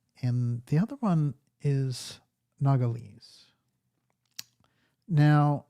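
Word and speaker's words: Nogales: the other one is nagales now it's very interesting because this town how do you like the pronunciation of that that that sounded pretty good nogalus is probably the correct terminology noala it's very interesting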